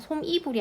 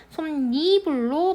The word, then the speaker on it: 솜이불: 솜니불에서는요, 솜이불이 아니고 솜니불로 발음이 돼요.